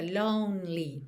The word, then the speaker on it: lonely: Esse E no meio da palavra lonely não é pronunciado, então fica lonely, tá? Do N, você já vai direto pro L.